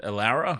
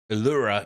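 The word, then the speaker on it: Loura: yeah aara is how I pronounce it but uh Aura is the proper technical pronunciation isn't it hey and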